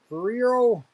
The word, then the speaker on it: Ferrero: Okay, so we had the red Ferraro, the Ferrero, Friero, Friero.